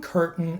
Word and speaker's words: curtain: written in Britain or I've gotten this cotton curtain in Manhattan so the way to pronounce this sound is by not releasing the